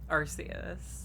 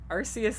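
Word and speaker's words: Arceus: uh the canonical one if the canonical uh pronunciation is in fact uh arus yeah well I think they were trying to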